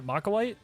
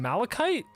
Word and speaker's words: malachite: I was like, yeah, Macalite? They're like, you mean Malachite?